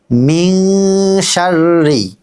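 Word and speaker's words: مِن شَرِّ: তো ইনশাল্লাহ আমরা শুরু করি বলুন মিন কিন্তু ইকফা গুন্না এক আলিফ গুন্না করতে হবে মিশারি জি আবার মিনশারি মাশাল্লাহ এবার বলুন মা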